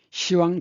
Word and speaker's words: 시왕: 이걸 이제 다리가 다리 가르이라고 하는데 시왕 다리 가르입니다. 10왕이라고 발음해야 되는데 발음이 힘드니까 시왕으로 발음합니다. 10월도 시월이라고 하죠.